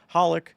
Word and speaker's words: Holik: And I'm here with Hollik. You have to tell me I pronounced your last name because I'm assuming that's correct, but actually Oh my gosh.